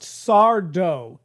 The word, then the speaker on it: Sardo: bit is that it's just Sardo, no Mister, accent on the dough.